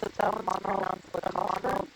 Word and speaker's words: Monoplacophora: So that one's pronounced Monoplacophora.